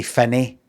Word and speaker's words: Finnie: Even though we say Finny, we say Finny here.